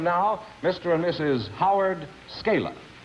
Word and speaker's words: Scala: Scala, is that the way you pronounce it? That's right, Scala.